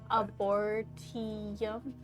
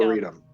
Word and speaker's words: arboretum: Abortium? Or tree place? Arboretum? There you go. Arboretum.